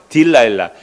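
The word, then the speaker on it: Delilah: 딜라일라. 그 들릴라를 영어로 발음하면요. 딜라일라.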